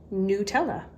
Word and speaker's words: Nutella: Now, I always said Nutella growing up, and other people would say Nutella, which I thought sounded kind of odd, but I looked it up on their website and it's pronounced Nutella.